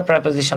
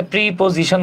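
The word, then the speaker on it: preposition: এখন এর সামনে যদি আপনি দেখেন যে একটা প্রেপোজিশন আছে। আমরা অনেকে এটাকে প্রিপজিশন বলি। রিয়াল প্রোনাউন্সিয়েশন হচ্ছে প্রেপোজিশন।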